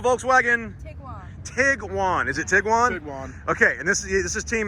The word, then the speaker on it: Tiguan: This is the Volkswagen Tiguan.